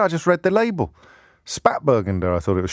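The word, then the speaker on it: Spätburgunder: of before this weekend apparently it's pronounced sh spate bergender so thank you to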